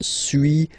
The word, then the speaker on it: suis: to pronunciations, okay, so first one, suis, as you've been noticing, you don't pronounce the final S, okay, and for tu,